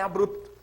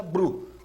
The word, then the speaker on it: abrupto: if então deu maisem a pronúncia Bru que tá errada é abrupto derivados também AB ruptela